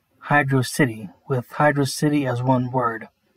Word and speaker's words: HydroCity: kid i pronounced it hydrocity zone which is not how you pronounce it it's hydro and then city two words instead of just one i guess translating it